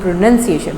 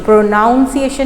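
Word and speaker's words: pronunciation: तो सिलेबल्स के ऊपर, और जब आप सिलेबल्स के ऊपर गौर करना शुरू कर देंगे तो आपको प्रोनंसिएशन, आपकी प्रोनंसिएशन, प्रोनाउंसिएशन नहीं है, प्रोनंसिएशन यानी अल्फाज बोलने का अंदाज़।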